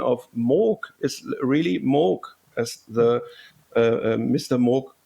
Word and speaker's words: Moog: hard so it's uh like MOG in Vogue this time because oh